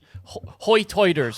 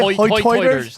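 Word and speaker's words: hoi toider: Hoy-toiters? Yeah. Hoy-toiters. The dialect on this island is sometimes referred to as hoy-toiters, which is their pronunciation of high tide. Hoy-toid on the same side, high tide on the same side.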